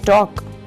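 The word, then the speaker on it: talk: है वह चलना और टॉक बातचीत इसमें एल साइलेंट है कोल्लम पतझड़ इसमें इन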